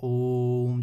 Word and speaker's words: ओम: ओम जैसे आप उच्चारण करते हैं, है ना, ओम, तो ओ जो ये बीच वाला उच्चारण हो रहा है इसमें आपको लंबे समय तक ठहराव करना पड़ता है, तो इनको हम प्लुत स्वर बोलते हैं।